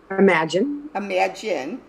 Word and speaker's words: Imajine: Imagine That. Yeah, Imagine That. It's spelled with a J though, so I get confused.